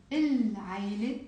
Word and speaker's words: العيلة: Because the second one is not right because عين is a moon letter. حرف قمري. So نلفظ اللام. We pronounce the lam.